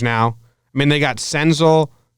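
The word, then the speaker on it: Senzel: I mean they got Sens 'el is how you say it Nick stencil they got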